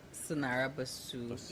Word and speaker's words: Sanara Bussue: Sanara Bussue, yes.